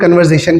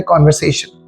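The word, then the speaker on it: conversation: अब कॉन्वर्सेशन को बहुत सारे लोग कन्वर्जेशन कह रहे होते हैं, तो कन्वर्जेशन नहीं है, सही प्रोनाउंसिएशन है कॉन्वर्सेशन।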